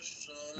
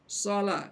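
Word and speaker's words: صلاة: Karena huruf shad itu, karena ditulis pakai SH, jadi kayak shin jadinya dibaca orang. Sholat. Nah, itu salah.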